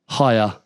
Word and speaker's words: Haier: You spell it like this, Chris. HAIER. Hire.